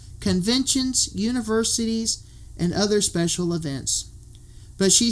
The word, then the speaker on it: Evin: They have 2 daughters, Allie, who's 10, and Even, who is 14, and that's spelled Evin.